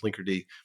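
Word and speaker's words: Linkerd: that's like the demon so now we have this thing that looks like it's pronounced like something else but it's pronounced Linker and as that name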